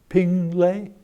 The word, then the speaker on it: Pingle: Pingle. Pingle.